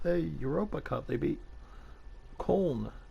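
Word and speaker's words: Köln: europa cup they beat corn or cologne as we would pronounce it here in the u.s 2-1 so two new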